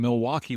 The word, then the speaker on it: Milwaukee: So, we're headquartered here in Milwaukee, Wisconsin.